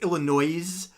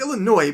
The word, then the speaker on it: Illinois: If we just stop here for a moment to say that I actually rhyme boys with Illinois. Nobody pronounces it Illinois. It's Illinois, but poetic license.